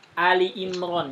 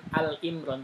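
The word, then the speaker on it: آل عمران: Seperti Ali Imron ya, bukan Al Imron tapi Ali Imron. Alu di asalnya ada di alu atau Anda nggak tahu. Itu Al intinya alu atau Ali. Ali Imron tapi dia bacanya Ali Imron ya.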